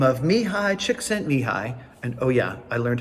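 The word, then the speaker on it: Csikszentmihalyi: 1975 a man by the name of mihai chick sent me high and oh yeah i learned how to pronounce it he coined the term flow for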